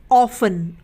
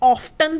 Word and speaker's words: often: उसी तरीके से ऑफन, OFTEN, ऑफन, तो यहाँ पर भी आखिर में क्या आ रहा है, TEN आ रहा है, तो इसलिए यहाँ पर जो टी है वो साइलेंट रहेगा, यानी कि वो नहीं बोला जाएगा। हम क्या बोलते हैं, ऑफन बोलते हैं, हम ऑफ्टन तो नहीं बोलते ना, तो यहाँ पर टी क्या है, साइलेंट है, यानी कि वो नहीं बोला जा रहा।